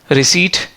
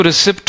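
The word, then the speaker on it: receipt: इसको स्केज बोलते हैं सेम ऐसे ही एक वर्ड है राइट रिसी कुछ लोग इसको रिसीप्ट पढ़ते हैं कुछ लोग इसको रिसी करते हैं रिसी बोलते हैं तो होता क्या है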